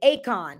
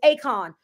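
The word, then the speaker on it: Achan: it's I'm trying to pronounce it right but it's spelled a-c-h-a-n Akon I think it's Akon acon or something like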